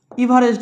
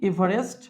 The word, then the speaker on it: এভারেস্ট: যেমন দেখো, Mount এভারেস্ট আছে, মাউন্ট এভারেস্ট, ইভারেস্ট বলি আমরা বাংলায় উচ্চারণ করছি এভারেস্ট।